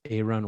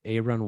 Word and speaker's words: Aaron: His name is Aaron Walker. It's spelled Aaron, but he pronounces it Aaron.